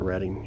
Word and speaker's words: Reading: Pronouncer Reading. Yep. Like the railroad and Monopoly.